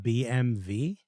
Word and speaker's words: BMW: took it you know BMW is pronounced it's pronounced BMV oh yeah yeah Germany they say bve or something yeah yeah um all right well